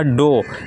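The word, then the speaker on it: dough: इसमें भी आपका ओ यू जी एच आया है। तो ये हो जाएगा आपका डो क्या? डो।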